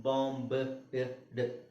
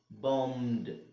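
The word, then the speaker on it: bombed: ಇಲ್ಲದೆ ಹೇಳಬೇಕಾದ್ರೆ ಏನಾಗುತ್ತೆ ಬಾಂಬ್ಡ್ ಬಾಂಬಡ್ ಏನ್ ಹೇಳಬೇಕು ಇದು ಬಾಂಬ್ಡ್ ಸೊ ಈ ಆದಮೇಲೆ ಸಾರಿ ಎಂ ಆದಮೇಲೆ ಈ ಉಚ್ಚಾರಣೆ ಮಾಡೋ ಹಾಗಿಲ್ಲ ಆಮೇಲೆ ಬಿ ಎಂ ಆದಮೇಲೆ ಬಿ ನು ಇಲ್ಲ ಏನು ಉಚ್ಚಾರಣೆ ಮಾಡಂಗಿಲ್ಲ ಬಾಂಬಡ್ ಬಾಂಬೆಡ್ ಅಲ್ಲ ಬಾಂಬಡ್ ಓಕೆ ಹಾಗೆ ಇಲ್ಲಿ ಇಲ್ಲಿ ಬ್ರೈಬ್ಡ್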